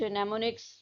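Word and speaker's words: mnemonics: यूज हो रहे हैं कुछ मनेमोनिक्स जो हमने यहां पे पढ़ा है एम साइलेंट है इस में ठीक है तो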